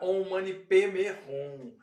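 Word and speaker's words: Om mani padme hum: Então esse mantra on mane padrum na pronúncia tibetana pode virar on manerrum.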